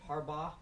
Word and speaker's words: Harbaugh: I understand that your protagonist, Diane, is it Harbaugh?